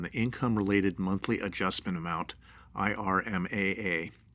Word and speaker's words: IRMAA: You may be eligible for an increased reimbursement for your Part B premium based on the Income-Related Monthly Adjustment Amount, IRMAA, pronounced IRMA.